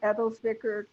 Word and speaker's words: Edelzwicker: Because the first one is you pronounced it Meyer Fonet, Edelzwicker, and did I say Edelzwicker correctly?